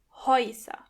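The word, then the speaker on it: Häuser: as you can hear when the letter A comes before the letter together they are pronounced oi HOA the second letter is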